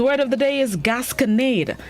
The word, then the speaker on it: gasconade: start this morning's word of the day is gasconade gascanade it's spelled g-a-s-c-o-n-a-d-e gasconade it is unknown which means